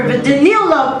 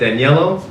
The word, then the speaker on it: Danilo: my name is um Danilo she pronounced it very beautifully uh everybody gets it wrong don't worry about it my first name I get danello dairo and Donatello for my second name